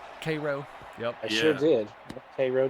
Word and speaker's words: Cairo: Butts, you must have married someone from South Georgia or something because you pronounced that city correctly. Cairo.